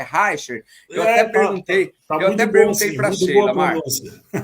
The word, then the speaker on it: Reichert: Pronunciei o seu sobrenome corretamente, é Harcher.